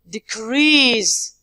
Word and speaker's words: decrease: To decrease. Decrease. This is the second also part. If it is a noun, decrease we say. But the verb is decrease.